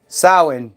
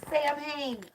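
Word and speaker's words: Samhain: does some I know how do you say sam Hayne s sin there you go she does sawing in the solstices my dad just yeah Dr said it wrong kind of said it is what it is on Criminal Minds it floored me he said it wrong he said Sam ha during one of the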